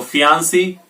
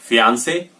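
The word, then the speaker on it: fiancé: सो फियांसे या फिर अलग अलग करेंगे, फीमेल के लिए फियांसी और मेल के लिए फियांसे।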